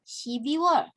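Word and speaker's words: 십이월: Oke, lalu untuk pengucapan gitu ya, pengucapan yang perlu diperhatikan adalah 2 bulan ini. Shibirwol dan Shibiwol. Kenapa? Karena pengucapan ini nih, aduh, sebentar. Pengucapan il dan i kalau tidak jelas nanti keliru.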